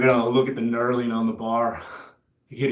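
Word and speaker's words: knurling: Did you know this design, that grip, it's called nurling? K N U R L I N G. I believe that's how it's spelled.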